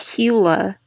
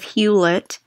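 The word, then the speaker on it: Hewlett: I thought it was huet Packard I always pronounced it hula I always pronounced it hula instead of huid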